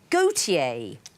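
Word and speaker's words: Gotye: walter de becker but walter is gautier in french and he's called himself that but he doesn't spell it correctly he spells it g-o-t-y-e what's a convoluted set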